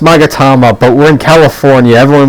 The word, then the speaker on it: Magatama: I know it's pronounced Magatama, but we're in California.